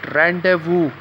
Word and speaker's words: rendezvous: silent word in rendezvous now the way i pronounce it rendezvous there is no place for a c so